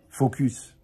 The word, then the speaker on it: focus: Donc, si toi, tu avais été concentré, ouais, focus, mais il faut bien prononcer le S, d'accord?